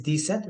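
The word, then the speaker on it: dix-sept: हमने किया था दिस और 7 हमने किया था सेथ, जो मिला के क्या बन जाएगा आपका दिस सेथ। और मेक श्योर कि दिस सेथ के बीच में आपको डैश लगानी है, दिस सेथ, pronunciation is दिस सेथ।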